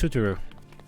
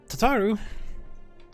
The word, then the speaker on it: Tataru: Hey, it's Tutaru. Alphino, a message from the Alliance. Tataru. I misspelled her, or mispronounced her name. Tataru, another child, as you like to call him.